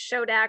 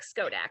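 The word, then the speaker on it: Schodack: fire in any case it's probably not pronounced shodak but more like skodak okay so thank you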